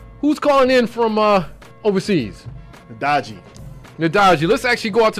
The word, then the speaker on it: Ndagijé: Ndagijé, pronounce it for me again. Ndagijé? Ndagijé, that's correct.